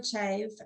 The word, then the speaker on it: Chave: you here with beautiful Chavez and I'm pronouncing that correct um it's actually chave but what's really interesting